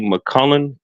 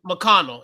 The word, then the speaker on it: McConnell: I I I just really feel if they had a point guard like TJ McCullen, McCullen, McCunnel, I say his name right? Oh, um, McConnell. Yeah, McConnell. McConnell.